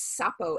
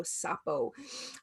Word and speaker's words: Sapo: And, like you said, so Kambo, some people pronounce it Kambo, Kambo. It's also referred to as Sapo, S-A-P as in Paul O, Sapo.